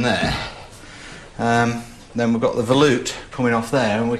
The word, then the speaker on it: volute: Then we've got the volute coming off there and we can start setting everything up.